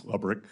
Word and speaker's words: Lebrick: Am I pronouncing his name correctly? I believe it's Lebrick. Lebrick, okay.